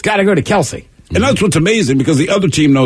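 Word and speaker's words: Kelce: called him Kelsey anymore I'm probably gonna call him Kelsey we just found out a couple weeks ago it's actually Kels I don't care yeah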